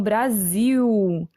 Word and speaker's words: Brasil: para vocês notarem que a gente não pronuncia esse l no final das palavras como uma consoante o som é de um então o Brasil né Taffarel Gol Mas